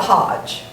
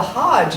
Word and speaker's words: hajj: trip to mecca the hajj it's not spelled like h-o-d-g-e but it's pronounced like hodge the hajj is annual and all